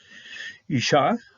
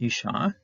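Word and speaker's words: אשה: Now, each woman, Isha, you're going to pronounce it the same thing. Here, this is a doubling up of the hey because of the dagish here, but it's basically pronounced the same thing, same way.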